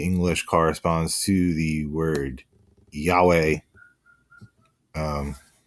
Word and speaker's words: Yahweh: corresponds to the word Yahweh um sometimes incorrectly pronounced Jehovah by going back to um uh ancient Roman times but it's Yahweh in in the name